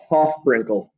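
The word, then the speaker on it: HOFBrINCl: It's a little acronym, and it is, I pronounce it Hofbrinkel. Hofbrinkel. H for hydrogen, O for oxygen, F for fluorine, Br for bromine, I for iodine, N for nitrogen, and Cl for chlorine.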